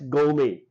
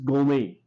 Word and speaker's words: gourmet: The word pronounces as gourmet. R and T remain silent. These two remain silent. This is gourmet.